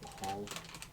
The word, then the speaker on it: Bhaal: I believe it's pronounced Bahal.